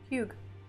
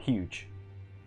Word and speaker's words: Hugh: Hugh. Hugh. Not huge.